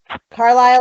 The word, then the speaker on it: Carlisle: Carlisle, like the town in Pennsylvania. The man's name, Carl, and Isle, like an island.